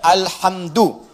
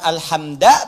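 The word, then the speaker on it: الحمدُ: Dibacaannya alhamdu, bukan alhamda pakai fathah atau alhamdi pakai kasrah. Ya, apa bacanya? Du, alhamdu pakai dhammah. Jadi kalau dibaca dalam salat, jangan baca menggunakan fathah alhamda atau kasrah alhamdi, tidak. Baca menggunakan dhammah, alhamdulillah.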